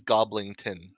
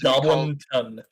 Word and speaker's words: Goblinton: The most recent that I've been given is Goblington. It is not. It is Goblinton.